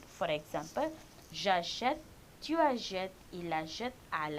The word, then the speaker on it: j'achète: But if you don't put an accent grave above a, it will be longer pronounced. So they want this verb to pronounce shorter. They use accent grave in acheter. So now it is j'achète, I buy.